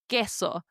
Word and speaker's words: queso: Queso. Now, notice I'm not pronouncing it like the English word queen. Queso.